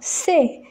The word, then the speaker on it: ces: Prenons C, CES et C, SES, ça se prononce avec E fermé.